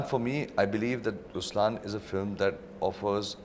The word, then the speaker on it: Ruslaan: LI oh yeah okay so even in raslan when you say raslan also means the lion it's the attitude of am but the right pronunciation is rlan okay there is so